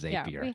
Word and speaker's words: Zapier: pronunciation i know because their tagline is zapier makes you happier right which i feel